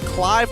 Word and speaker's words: Clive: and as well as Clive or Cleave. He wants to be called Cleave, but you got to spell it right. It's Clive for now.